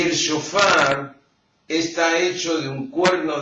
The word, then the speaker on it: shofar: Y la palabra shofar se escribe con una palabra, con una letra que en castellano no la tenemos, que es la SH. Sh. No hay una letra en castellano que tenga el sonido de sh.